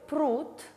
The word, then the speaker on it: пруд: рассмотрим несколько примеров например слове пруд звонкая д находится в конце слова и поэтому подвергаются редукции то есть оглушению и произносится как труд д оглушается в т далее слове ложка